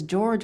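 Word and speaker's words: Jorge: poost magazines so no you pronounce your name as George when it's spelled as j o r g e where'd that come from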